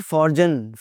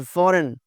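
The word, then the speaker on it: foreign: फ़ॉरेन, इट्स नॉट फ़ॉरजन, इट्स नॉट फ़ॉरजन, इट्स फ़ॉरेन, फ़ॉरेन।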